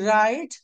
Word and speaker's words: write: When ever you find a word starting విత్ డబ్ల్యూఆర్ in English language, W always is a silent letter. WRATE write, WROTE wrote, WRATTN written, WRAPPE rape.